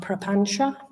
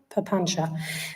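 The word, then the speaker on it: papañca: a habit of Mind called the Pancha sometimes pronounced propancha perpancha this is a really important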